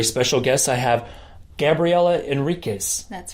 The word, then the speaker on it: Enriquez: as my very special guest I have Gabriella Enriquez that's right I got it right you did oh good pronouncing pronunciation is not my strong point so